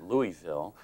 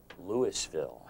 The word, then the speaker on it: Louisville: it was it was it was named after King Louis the 16th of France so the proper I guess pronunciation is Louisville uh but you can tell if if someone is really a a hillbilly a real hick down in the southern part of Kentucky they say Lewisville oh that's how you